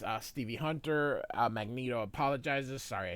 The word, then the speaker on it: Magneto: It's Magneto, not Magneto. I don't care what Stem Lee says. I don't care how everybody else and their mother pronounces it. It's Magneto. It's a magnet with an O.